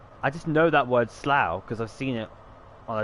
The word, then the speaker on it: Slough: as slur and then the o the u makes an ow sound sl and then i